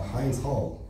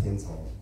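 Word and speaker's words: Hind's Hall: new Pro Palestine song called uh Hines hall or pronounced hin Hall you know I know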